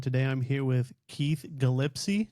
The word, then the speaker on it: Gillispie: today I'm here with Keith Gillispie. Did I say it right? Almost Gillispie.